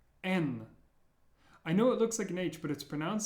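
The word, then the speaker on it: Н: next one is m n I know it looks like an H but it's pronounced like an n as in never n n the way I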